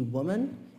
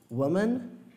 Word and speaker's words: woman: Então, para homem não tem diferença de pronúncia, mas para mulher tem. A gente tem aqui woman e women. Woman, women.